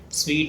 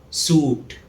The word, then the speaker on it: sweet: Sweet is kaksh in Hindi. The correct pronunciation is sweet. It rhymes with the word treat. It's often mispronounced as suit.